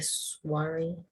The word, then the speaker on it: soir: Soir. It's like noir, if you know. Have you seen like a type of wine called Pinot Noir? No. I don't actually know how the first part is pronounced, but it's pronounced, the second part is pronounced noir. Soiree is, we'll go over it later.